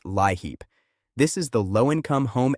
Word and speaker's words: LIHEAP: One of the biggest helpers right now is LEAP, pronounced LIHEAP.